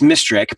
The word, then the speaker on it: Misterek: weird you know so it's mysteric but it's spelled misterick and my full name if you say it together fast enough it sounds like christmas tree and so you know